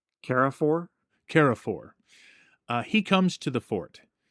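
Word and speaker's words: Carrefour: And here comes, and could you help me with the pronunciation of his name? Carafor? Carafor.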